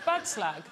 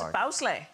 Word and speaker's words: bagslag: What, bagslag? No, it's bowsleigh.